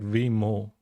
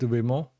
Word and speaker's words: Vimoh: Wimo, like M-O-H, Mo. Anyway, so we were talking about Wimo next.